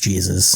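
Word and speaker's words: Jesús: three three y but his name actually is Jesus it's pronounced Jesus in this case so does he that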